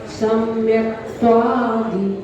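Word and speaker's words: सम्यक्त्वादि: सम्यक त्वादि ऐसा बोलेंगे तो क्या गलती होगी, दा में बड़ी की मात्रा हो जाएगी, यहाँ पर छोटी की मात्रा है, तो यहाँ पर उच्चारण करेंगे सम्यक त्वादि गुणोपेतम सिद्ध चक्रम नमाम्यहम।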